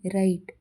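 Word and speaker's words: write: ಯು are hour ಗಂಟೆ ಡಬ್ಲ್ಯೂ ಆರ್ ಐ ಟಿಇ ರೈಟ್ ಬರೆಯುವುದು high ನ ಉಚ್ಚಾರಣೆ ಹೈ ರೇಟ್ ನ ಉಚ್ಚಾರಣೆ ರೈಟ್ ಇದೇ ರೀತಿ ಕೆಳಗಿಡ ಶಬ್ದಗಳನ್ನ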